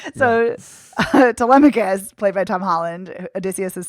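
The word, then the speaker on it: Telemachus: I always want to call him Tamakis. That's why it's like taking me a minute because I'm like that's not the way you pronounce it.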